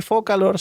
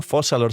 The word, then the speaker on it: Focalors: Y la gente miñi de redes diciendo, no digas a Furina que es un Arconte porque Focalors, bueno, Fossalors se pronuncia, es un Arconte, miñi.